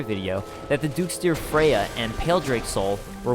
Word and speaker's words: Freja: But when it comes to the name, typically Freya is the proper pronunciation.